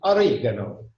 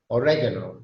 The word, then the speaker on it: oregano: Italians, oregano. American English, oregano, or yeah, oregano. And the British oregano.